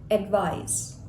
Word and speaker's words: advise: actually a verb and when we pronounce it it sounds like it's a zed or a z advise how do we make